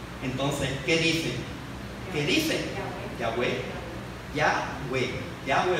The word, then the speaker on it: Yahweh: El nombre, ¿verdad?, del creador del universo, cuya pronunciación es Yahweh.